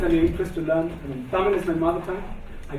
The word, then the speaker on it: Tamil: Yeah, I mean the ya is a very special character in Tamil, and the way to pronounce this ra is basically the tip of your tongue should touch the roof of your upper jaw, right?